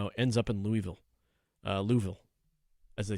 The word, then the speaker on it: Louisville: S the S is like not even there. It's like Louisville.